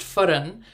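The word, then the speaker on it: فرن: oh, the funny thing about talking linguistics about the word fern is that in Arabic, the same spelling, Fern, is pronounced furun, which means oven in Arabic.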